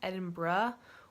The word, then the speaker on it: Edinburgh: people say Edinburgh like you might have heard Edinburgh before but I learned when I got there that it's actually pronounced Edinburgh or sometimes it sound